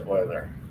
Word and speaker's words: Euler: and kayla boiler yeah it does look like euler it is pronounced euler yes uh ian and